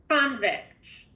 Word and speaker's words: convict: Remember, we've accented the first syllable, so I need to hear accent, your mouth being open wider, okay? So here we go. Convict.